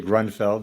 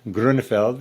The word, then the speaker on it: Grünfeld: my guest is abel gruenfeld i'm practicing my german pronunciation there in america we would say grunfeld but it's grundfeld abel how are you